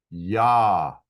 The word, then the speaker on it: יה: Yah is how that would be pronounced.